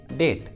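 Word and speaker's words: debt: अगला एग्जांपल देखिए डेट, डेट, ये रूट वर्ड है और इसमें टी आया है और टी के जस्ट पहले बी भी आया है तो बी को प्रोनाउंस नहीं करेंगे, बी साइलेंट रहेगा तो उच्चारण होगा डेट, डेट।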